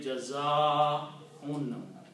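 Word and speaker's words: جَزَاءٌ: So this alif should be pronounced with a long mad. Okay? The sound will be Jaza'un.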